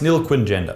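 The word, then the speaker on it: nilquingender: this job all right an nil quin gender pronounced nil quinn gender thank you is extremely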